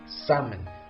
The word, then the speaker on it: salmon: at your home now do I say salmon or salmon which one is correct now so the correct pronunciation of this word is salmon so the silent letter is air now we have seven